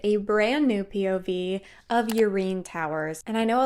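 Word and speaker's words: Yrene: And I know a lot of people like to call her Irene, but I'm telling you right now, if it was supposed to be Irene, it would be spelled with an I. It is not. It is Urein Towers.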